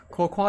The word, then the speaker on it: Cocoa: Let Cocoa, you say it like Coco.